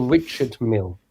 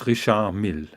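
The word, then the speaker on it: Richard Mille: it rishard Mill or Richard Mill no it's rishard Mill so I was correct Rish M it's not Rish M it's it's not Richard it's Risha M so you don't pronounce the d right no no D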